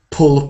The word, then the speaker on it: pull: sometimes called the uh pull pool these two words one is o a bit oo like P and the other one is pull shorter he can put not